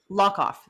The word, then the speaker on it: Hlokoff: So it's Hlokoff. Hlokoff. The H is silent. Hlokoff.